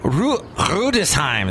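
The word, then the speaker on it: Rüdesheim: Rudesheim is how you say it in German. You swallow your R's in Germany.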